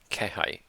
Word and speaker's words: 気配: This was indication again, and I don't remember how it's pronounced. 気配。後ろに人の気配を感じた。 Kehai.